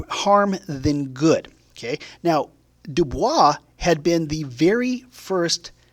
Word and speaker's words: Du Bois: Now, I have seen his name pronounced as W.B. Du Bois, but I believe it's supposed to be Du Bois.